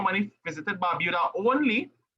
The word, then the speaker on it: Barbuda: 28 visited Anguilla, and 30 visited Barbuda. Better, Emily? Yes, sir. Actually, Sir, it's you're pronounced pronouncing Barbada. don't listen Barbuda. to Sanjay. Don't No, listen. Barbada.